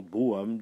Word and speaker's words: Brougham: bien et puis 90 ans plus tard leur bôme donc décédera à cannes en 1868 petite précision